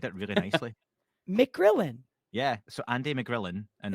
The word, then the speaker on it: McGrillen: surname again because you said it really nicely mcgrillin yeah so Andy mcgrillin and another way I pronounce it um I God how did I